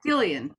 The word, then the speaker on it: Gillian: Hi, I'm Gillian. Yes. Jillian, sorry, it could be pronounced. Sometimes it's pronounced. They're mostly Jillians, but I'm a Gillian.